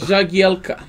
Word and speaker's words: Jagielka: Help me pronounce Phil that. Jagielka.